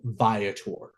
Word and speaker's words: Viator: little bit about vietor I've heard this pronounced so many ways I've heard vator vator veor again it's called vator and just a little